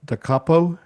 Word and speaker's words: Da Capo: It's published by I hope I pronounce this right, Da Ca- Da Capo That's right.